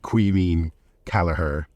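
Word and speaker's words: Caoimhín Kelleher: those two especially with quean caher as one of our uh our awesome subscribers corrected me in our last video that's how you pronounce his name uh if you're Irish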